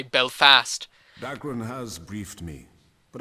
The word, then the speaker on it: Belfast: about belfast is that i always like put the accent on the fast instead of the bell and some people put it on the bell marianne's dad puts the accent on the fast and my history teacher mr costello used to put the accent on the fast as well so we say belfast